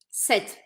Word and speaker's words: cette: E a pronúncia é idêntica à do masculino set.